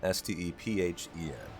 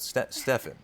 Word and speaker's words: Stephen: Stefan s-t-e-p-h-e-n you're here it's pronounced Stephen most of the time although a lot of people will um decide to go with Stefan you know it can go either way it's kind of 50 50.